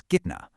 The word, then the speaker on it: kitna: So, if the noun is masculine and singular, you just use the root form, which is kitna. Notice that strong ah sound at the end there.